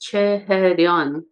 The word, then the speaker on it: Che Hae-ryun: My Korean name is pronounced Che Hae-ryun, surname Che and then Hae-ryun.